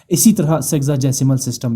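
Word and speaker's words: sexagesimal: किया गया है और अब इसे प्रोनाउंस किया जाता है सेग्जासिमल और इसका मतलब क्या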